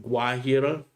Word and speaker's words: Guajira: You would pronounce it Guajira, but it's Afro Guajira, all one word.